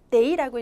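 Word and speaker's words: 得: 워, 저는요, 이때 여러분, 더라고 읽으시면 안 되는 거고, 데이라고 읽으셔야 돼요.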